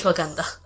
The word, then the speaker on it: ashwagandha: It's ashwagandha.